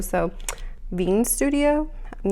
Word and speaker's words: Qveen: I don't know if we're pronouncing the Q or not. It's Qveen. So I want to say Queen, but I know it's not Queen because it's a V, not a U.